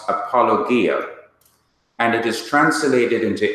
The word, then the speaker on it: apologia: is spelled EPO l OG I a would pronounced apologia and it is translated into English as defense